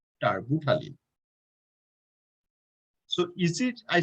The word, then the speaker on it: terbutaline: So that's you can say tarbutaline. The pronunciation is T-E-R-B, and also U-T-A-L-I-N-E, tarbutaline.